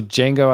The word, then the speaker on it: Django: um we'll support um so django i think the d is oh silent like yeah like terrible english english words um will what's the question oh on will django support what specifically i'll